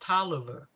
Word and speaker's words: Taliaferro: t-a-l-i-a-f-e-r-r-o like califarro but it is actually pronounced toliver that's interesting it throws